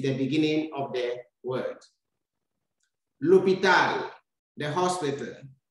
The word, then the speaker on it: l'hôpital: L'hôpital, the hospital. You can see we have a silent H that begins the word.